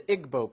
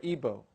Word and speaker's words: Igbo: in Nigeria you have the Igbo people or ebo pronounced either way there's 40 million of